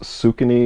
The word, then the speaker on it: Saucony: dud in five years I think it's pronounced sukany Saucony it's a pink head